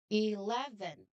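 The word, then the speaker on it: eleven: Um the strong part of him is um his middle sound. Okay. 11 again 11.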